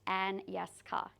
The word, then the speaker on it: Anyeska: So I'm just going to remind you all, it's pronounced Anyeska, as it's spelled.